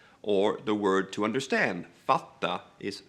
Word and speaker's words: fatta: So the word hitta, to find, is hida, or the word to understand, fatta, is fada, or titta, look, tida.